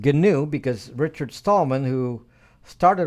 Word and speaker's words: GNU: good gnu/linux gnu/linux okay gnu/linux and and it's pronounced ganoub because richard stallman who started all this with